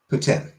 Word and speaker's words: poutine: people pronouncing it poutine no baked them then steak fries like I can accept Puttin you know like the hard tea because that soft tea is if you don't